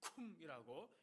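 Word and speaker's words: קום: 히브리어로 일어나 쿰이라고 이렇게 발음을 하는데요, 단순히 앉았다가 서 있는 것을 말하는 게 아닙니다.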